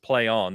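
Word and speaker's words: Plaion: uh has rebranded as play on it's p-l-a-i-o-n yeah it is pronounced play on they confirmed uh they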